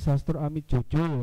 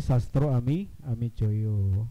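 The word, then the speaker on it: Sastroamidjojo: Ada kemarin tuh yang baca misalnya Ali Sastro Ami Jojo ya, dibacanya adalah Kabinet Ali Sastro Ami Joyo ya.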